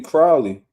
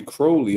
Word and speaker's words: Crowley: news man is it is it Cody Crowley or Cody Crawley let me see real quick it's Cody Crowley I was saying his